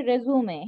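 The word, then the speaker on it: résumé: আছে রিসাম আর ইসমাই ওইটার উচ্চারণ হচ্ছে রেজুমে হ্যাঁ রেজুমে আর সিভি একই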